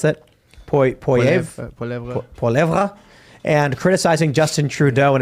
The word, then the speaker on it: Poilievre: other crimes, retweeting Pierre Poilievre, how do you pronounce that? Poilievre, and criticizing Justin Trudeau and his political allies.